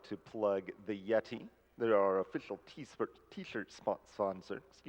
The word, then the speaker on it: Yetee: And in celebration of providing shirts for our 10th Games Done Quick event, the Yeti has increased their donation amount.